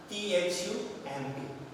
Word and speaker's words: thumb: Then thumb, T-H-U-M-B. Here B, that become silent. So we have the pronunciation only thumb. B is not pronounced, which becomes silence.